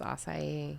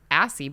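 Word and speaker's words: açaí: a hard one acai bowl or acai it's acai yeah the first time i read it i was like okay i think that i said assi bowl for the first time yes please bring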